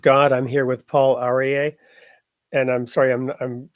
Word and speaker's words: Aryeh: I'm here with Paul arier and I'm sorry I'm I'm sure I'm mispronouncing your name do you want to go ahead and share it with us you said it perfectly Paul arier okay great so you